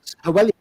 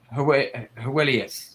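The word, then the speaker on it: Heweliusz: What am I going to pronounce, sorry? I'll do a second take. Hewelius. Hewelius.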